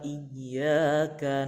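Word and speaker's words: إِيَّاكَ: Asal ada pantulannya itu. Artinya karena ya-nya bertasdid di sini artinya cara membacanya itu dipantulkan.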